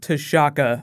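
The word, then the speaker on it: T'Chaka: the comics is King tashaka I say his name like Shaka Zulu black panther all also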